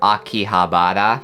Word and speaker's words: Akihabara: There is an H in there, Akihabara. When I speak, I guess maybe I don't pronounce the H as intensely as other people, but a lot of Japanese people call Akihabara Akiba.